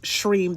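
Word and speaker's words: Shreem: Stream s r i m is pronounced shrim though it's pronounced sh h re e m.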